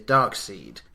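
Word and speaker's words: Darkseid: bad guy his name and I think I'm pronounced this correctly is darkseed d-a-r-k-s-e-i-d and that's the bad guy for the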